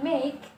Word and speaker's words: make: Kemudian make, ya. E-nya juga di silent, ya, artinya membuat.